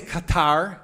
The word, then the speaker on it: Qatar: Um, including how to pronounce it because I know some people say cutter. That's where we say Qatar.